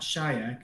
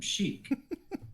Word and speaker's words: Sheik: Sheik is spelled Sheik. People always get that wrong. I'm not Shayak, I'm Sheik. Simple.